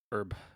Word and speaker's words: herb: I think it's pronounced herb it's it's herb pronounced the the H is silent okay herb yeah you got it